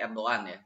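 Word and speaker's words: Erdoğan: ke Israel tentu bidan Erdogan kalau kata orang bacanya Erwan tapi ane males males apa namanya mengucapkan huruf halaq kVA sahnya gitu jadi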